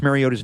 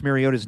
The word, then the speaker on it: Mariota: what I do and not really pronouncing Marcus Mariota's name right where we just kind of softly say the T at his name?